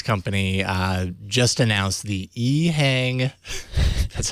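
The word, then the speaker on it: EHang: it's that Chinese company uh just announced the eang that's how you say it 184 an all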